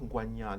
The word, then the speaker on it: Ngwanyam: Ngwanyam is in reality, it should be pronounced Ngwanyam, the one who shares the meat.